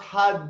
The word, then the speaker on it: Har: we are gonna chant hot okay so hard means God okay so hi We're chanting it and it's pronounced hot dip like a D so each time we